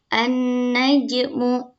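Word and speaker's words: النجم: Nah, cara membacanya itu alnya tidak dibaca, langsung masuk ke huruf yang bertasydid. Nah, ini bisa dibaca an-najmu.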